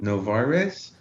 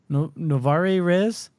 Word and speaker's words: Novare Res: Novarez? Oh, I know a guy by that name. Yeah. No, okay. It's Novare. Next word, RES. Okay. Novare Res?